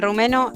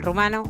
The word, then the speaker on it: rumano: domeniu está super porque el rumeno eh el rumano No rumeno rumano rumeno rumeno rumano si